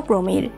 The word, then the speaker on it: পামির: উঁচু মালভূমি হলো পামির স্থানীয় ভাষায় এর উচ্চারণ হলো প্রমির যার অর্থ সূর্যের পা মধ্য এশিয়ায় বিস্তীর্ণ পামির পর্বত শ্রেণীকে কেন্দ্র করে